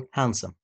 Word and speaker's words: handsome: زي handkerchief handkerchief okay or handsome handsome طبعا ده silent letter حرف الاي بيلخبط ناس